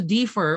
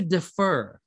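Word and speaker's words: differ: Be careful with the pronunciation of defer, okay? It's not defer, because some students say I beg to defer on the idea. No, that's not accurate, okay? I beg to defer, okay? Defer, okay?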